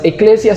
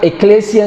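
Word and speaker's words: ekklesia: Eclesia se escribe E-K-K-L-E-S-I-A, con doble K, eclesia.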